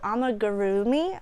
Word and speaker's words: amigurumi: There is a certain crochet style that people find popular called Amigurumi, I think is how you pronounce it.